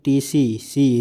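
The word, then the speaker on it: tsetse: सीपी मक्खी यानी कि टीसी सी इस हम कहते हैं टी साइलेंट जाता है वहन करती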